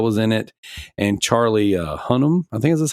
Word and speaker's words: Hunnam: that Pedro Pascal was in it, and Charlie Hunnam.